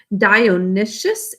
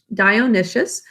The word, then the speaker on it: Dionysius: right so damon that's the way we would pronounce it in pythius and we're also going to be hearing about dionysius is the way we say his name dionysius who is uh the tyrant of syracuse and